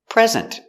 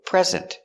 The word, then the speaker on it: present: Put the stress on the second syllable.